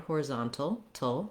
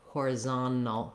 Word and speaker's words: horizontal: the end here horizontal you'll hear that we can say it with a t sound horizontal with a little bit of a schwa sounds like tull with a dark l there at the end or american speakers will often also leave that t out and say it more like horizontal horizontal either one is